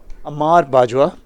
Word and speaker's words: Ahmad Bajwa: just knocks that down ahmad bajwa ahmad bajwa I've been told is the correct pronunciation ahmad bajwa just knocks